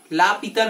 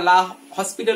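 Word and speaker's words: L'Hôpital: এই রুলটি হচ্ছে লা পিতার রুল, বা এটি অনেকে উচ্চারণে আমরা লা হসপিটাল রুল বলে থাকি।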